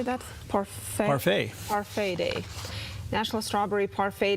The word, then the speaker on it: parfait: Parfait.